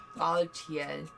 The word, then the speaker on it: Baltiel: Is that how you say his name? Yes. Baltiel.